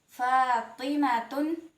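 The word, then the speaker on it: فاطمةٌ: Nah, Ta marbuta ini diucapkan ta ketika disambung saat dibaca dan diucapkan ha ketika waqaf atau berhenti. Gimana sih maksudnya? Misal ada kata Fatimatun. Nah, kita baca ta ketika disambung Fatimatun.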